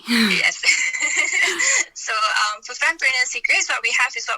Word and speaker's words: Fempreneur: So it's pronounced as Fempreneur Secrets. Oh, Fempreneur. Sorry. Yes. So for Fempreneur Secrets, what we have is what we call the Fempreneur Circle.